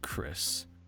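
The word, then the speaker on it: Chrys: So, it's pronounced like Chris, but you spell it like Chrisanthemum.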